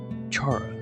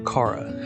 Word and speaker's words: Chara: It was Chara, or Kara, however you want to pronounce it.